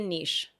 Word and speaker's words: niche: There's always going to be a niche or niche depending on how you say it.